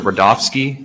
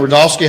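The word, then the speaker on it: Rudofski: soon special agent Peter rodofsky that's r-u-d-o-f-s-k-i and it's pronounced Rudolph and then ski Asian rodolski how you doing today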